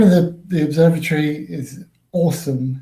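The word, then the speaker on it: OSoMe: The name of the observatory is Awesome. It's pronounced O-S-O-M-E.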